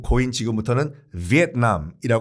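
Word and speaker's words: Việt Nam: 말을 드리자면 그게 금지가 됐다고 하면 에 일본식 발음인 베트남도 같이 금지 해야 되는거 아니에요 그 같은 원리라고 하면 위의 남이 백도 나 못했다가 베트남이 된거 기 때문에 그래서 는 정식 꾹 거인 지금부터는 위에 남 이라 곳 일단 최선을 다해서 이렇게 발음을 할게요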